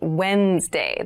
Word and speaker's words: Wednesday: the week but keep in mind this is pronounced wednesday there's a d there but we don't say